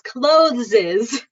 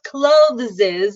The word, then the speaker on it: clothes: So clothes, Some English words, the S is pronounced Z. Clothes is one of those words. So clothes is commonly pronounced by ESL speakers as clothes, which Americans who live